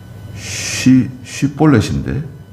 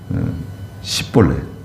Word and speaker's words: 쉬볼렛: 그래서 이 길르앗 사람들이 쉬볼렛이라고, 그 쉬 발음이에요. 쉬볼렛인데 그 에브라임 사람들은 이 쉬볼렛을 시볼렛이라고 발음을 하는 거예요. 쉬 발음이 안 돼요. 쉬 발음. 쉬 발음이 안 되고 시볼렛.